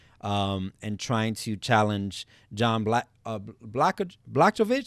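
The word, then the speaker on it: Błachowicz: We have at the light heavyweight position, we have Israel Adesanya coming up and trying to challenge John Blachowicz. How do you say his name? Blahovich.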